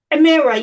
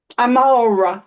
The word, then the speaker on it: Amara: So anyway, Amira, you're up next. Amara, I'm sorry.